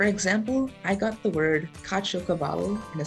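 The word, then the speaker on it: caciocavallo: those words for example i got the word kachokavalo in a spelling bee before it's spelled c-a-c-i-o c-a-v-a-l-l-o and it's a kind of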